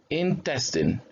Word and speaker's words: intestine: that when you read remember this one is a short e so you say in testan intestine so it's not intestine is in